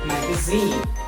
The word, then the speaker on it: magazine: you're pronouncing these words make sure that your voice or the speaker's voice will go longer louder example number one understand